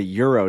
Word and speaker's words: gyro: calling that oh really you're calling that a Euro g y a gyro like a g y r gyro is how it's spelled but they call it the ass not